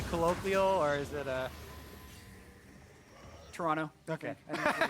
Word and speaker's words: Toronto: I was told actually by a tweet it's pronounced Toronto with no uh no T oh yeah today